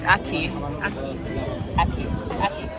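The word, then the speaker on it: ackee: Aki, it's Aki. Aki. Aki. Aki. Like AKI. Yes. When you say Aki, it sounds like a key.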